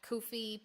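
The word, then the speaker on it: Ko-fi: um so the like Kofi page um they put up on their like Instagram today and it was like a thing about how to pronounce it and it is supposed to be pronounced Kofi and I even in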